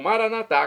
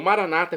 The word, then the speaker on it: maranatá: E agora eu clamo maranatá, como dizemos nós católicos, ou maranata, como dizem nossos irmãos, separados os evangélicos ou protestantes. Não importa pronúncia, o significado é o mesmo.